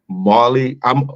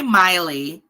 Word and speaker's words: Miley: But Marley, what's the name? Marley Cyrus? How do you pronounce her name? Definitely Miley.